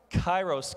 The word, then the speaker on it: kairos: It is kairos, K-A-I-R-O-S, kairos.